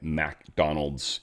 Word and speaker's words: McDonald's: We got McDonald's in the family. Mick and Mac are different. It's not McDonald's restaurant, obviously, though many people pronounce it that way. It's MC Donald's. MC is Mick.